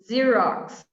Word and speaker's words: Xerox: a tricky one here xerox i love this one it sounds like a z or z as you